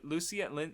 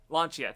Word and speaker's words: Lancia: I forget his name, Lucia I forgot, but Lancia, thank you, I got the wrong syllable.